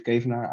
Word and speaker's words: Kevenaar: you um yeah so my name is keviner i'm i'm living in close to amsterdam i'm